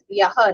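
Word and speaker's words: यः: When it ends as Yaha, Visarga, if we say Yah, the matra count will change. It should be told as Yaha. Then it is correct.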